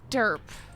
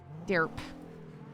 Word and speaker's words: Derp: Wyatt's full name is Wyatt derp like Wyatt Earp but Wyatt derp actually yeah that's his name uh uh my God my mtw is so slow yeah it's it's spelled exactly like Wyatt Earp but put a D in front of Erp which is Earp derp I don't know actual